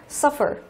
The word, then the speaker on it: suffer: Nhưng mà từ suffer này, động từ có hai âm tiết nhưng lại rơi vào âm thứ nhất, suffer.